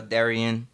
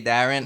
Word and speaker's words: Darian: Well, Darian. You know, I always say Darren.